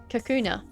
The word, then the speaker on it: Kakuna: Uh, Kakuna.